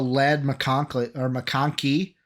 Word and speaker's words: McConkey: I mean, like from everything I've read and seen, also Lad McConkey is how you say it, out of Georgia.